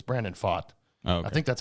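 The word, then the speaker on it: Pfaadt: I think the P the p is silent but uh he's been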